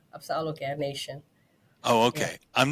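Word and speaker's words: Apsáalooke: It's Apsaluga Nation.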